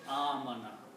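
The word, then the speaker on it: آمن: And this is pronounced as amana.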